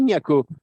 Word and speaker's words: Niako: Et moi, je dis Niako, je le dis comme un belge. Et en plus, il faut aspirer le O quand vous ne le dites pas. Parce que sinon, vous le prononcez mal.